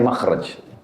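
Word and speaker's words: مخرج: Bahasa Arabnya itu mim, kha, ra, jim. Bacanya makhraj.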